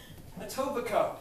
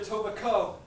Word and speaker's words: Etobicoke: Etobicoke. And I'll bet a lot of people outside this country think it's pronounced Etobicoke. Because they stereotype. Yeah. Because you're a prostitute. You can put Etobicoke on the map.